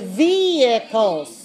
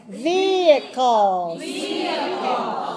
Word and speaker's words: vehicles: me watch me vehicles vehicles okay someone who's saying we not we v e v and some are saying b b vehicles vehicles vehicles the don't pronounce the h silent h vehicles around vehicles accidents